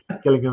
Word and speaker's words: Gillingham: Lots 100 to 137 I think we both said Gillingham in dors but it's I've had it on good authority it is Gillingham in I stand corrected I've had my wrist slapped and I will promise I'll say killing him in future that's it there